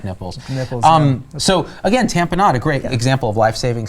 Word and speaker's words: tamponade: we remember tamp and tamponade is we would think of it like we always pronounced a tamponade and we would remember like kool-aid and there's this commercial